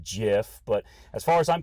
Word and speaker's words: GIF: yes i know that technically it's pronounced jif but as far as